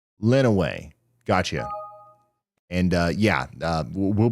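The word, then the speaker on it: Lenawee: letting us know that Lenway County is actually pronounced Lenway. Also, folks in Windsor, Ontario want to know if you'll track the storm as it crosses the border. Lenway.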